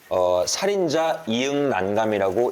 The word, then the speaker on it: 살인자ㅇ난감: 근데 이제 원작자님은 살인자 이응난감이라고 읽는데요. 이게 그러면 어떤 원작자의 의도는 이응난감인 거예요?